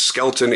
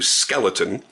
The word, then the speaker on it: Skelton: bone names a because my last name is skeleton in my entire life even now 46 years later people still misspelled and mispronounce it to skeleton and so I figured